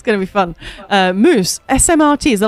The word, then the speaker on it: smrt: Moose, SMRT, is it like smart? Funny, SMRT, the way that's those 4 letters in Czech means death.